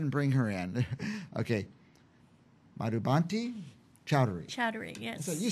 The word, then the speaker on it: Madhubanti Chowdhury: Madhubanti Chowdhury.